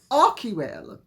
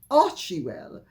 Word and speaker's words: Archewell: They've broadcast an investigation into Arcwell, or as Meghan and Harry and their people will insist on mispronouncing it, Archewell, quite forgetting that CH followed by a vowel is the K sound, not the CH sound.